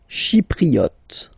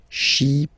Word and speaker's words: Chypriote: Chypriote. Remember this Y is pronounced like I. Okay. Chypriote.